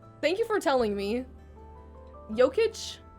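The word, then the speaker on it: Jokić: That was a good pronunciation. So it's Jokic.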